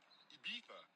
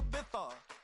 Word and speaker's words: Ibiza: I just went to Spain, that's Ibiza. Ibiza, yeah, it's pronounced Ibiza, actually.